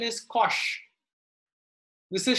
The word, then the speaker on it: cosh: Okay, pronunciation is cosh.